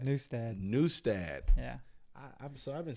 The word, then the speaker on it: Nustad: have Mr John newstead new stad yeah so I've been saying that I know I've been telling a lot of people John that's that new stat we pronounce it wrong because we Americanized it oh the actual way